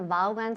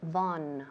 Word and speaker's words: Vaughan: Claro, todo el mundo aquí en España dice Vaughan Sistemas. Claro, por supuesto aquí todo el mundo conoce la empresa así, pero en realidad en inglés es Vaughan. Vaughan, la pronunciación en inglés es Vaughan Systems.